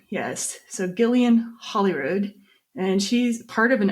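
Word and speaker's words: Holroyd: Hang on, Holyrood. Yeah, it's spelled Hollyrod. Yes, so Gillian Holyrood, and she's part of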